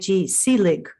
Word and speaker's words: Seelig: Her last name is Seelig, Seelig, correct? Am I Yes, that's pronouncing right.